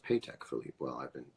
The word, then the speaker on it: Patek Philippe: Awards as a mirror world's most baller mirror pay tech Philippe is that true it's pronounced paycheck Philippe well I've been saying it right all along